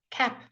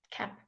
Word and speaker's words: cap: cap can you see you can hardly hear the poppy at the end but you it isn't it is a popping some cap if you don't say the P people can hear it so do practice this